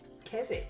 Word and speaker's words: Keswick: Yes. Keswick, obvious. We just don't bother with the W.